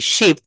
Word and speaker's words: ship: এটার উচ্চারণ কিভাবে করতে হবে জানেন? একটু দ্রুত বলতে হবে, একটু দ্রুত বলতে হবে, শিপ, শিপ, শিপ।